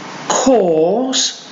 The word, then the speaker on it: Kors: you will know Michael Kors the designer or handbags etc and the surname of that cause cause look at the mouths oh talk Michael Kors call for jaw for jaw the next